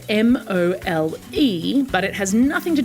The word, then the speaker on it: mole: national dish of Mexico is actually something called mole. It's spelled m o l e but it has nothing to do with the creature that lives underground.